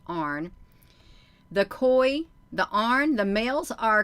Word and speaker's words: An: is the males, and it's spelled A-N and it's pronounced Arn.